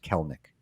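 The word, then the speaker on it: Kelenic: doesn't make sense and you just think of colonic but I F I learned last year that it's actually just kelik just pronounce in the middle yeah um how do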